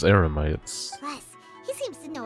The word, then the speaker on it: Eremites: He not only got us our Mora back, but sent the Emirites running too! Oh, she said it wrong. Emirites is Eremites.